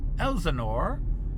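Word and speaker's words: Helsingør: So we are in the car and we've arrived in the town of Helsingor, which has a silent H in the front.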